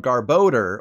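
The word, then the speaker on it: Garbodor: pile of trash is called garboder or a mixture of garbage and odor so think odor when you say its name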